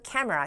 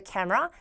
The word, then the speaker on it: camera: 보이냐 their backs 그들의 등을 어디다가 to the camera 카에다가 그들의 등을 보이다 그러니까 결과적으로 등지고 있는 모습이 나왔을 때 showing her Back to the camera showing his Back to the camera라는 식의 표현으로